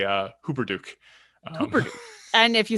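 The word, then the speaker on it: Hupperdook: you know and also how to say uh hooper duke and if you say it wrong that's okay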